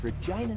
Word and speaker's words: Regina: w wilson out of regina saskatchewan lines up the shot this form looks good that's why regina rhymes with fun he is the